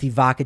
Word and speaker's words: Evoca: to worry again with Evoca TV. And you can enjoy the Nuggets and Avalanche once again. That's the solution. I'm going right now. EVOCA. See, I got to spell it right. Like evocative, yeah.